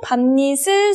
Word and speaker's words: 밤이슬: 밤이슬, 밤니슬, 표준 발음은 밤니슬입니다.